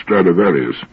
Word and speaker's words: Stradivarius: Ask anybody if he's ever heard of Stradivarius, which is the Latin pronunciation of the name.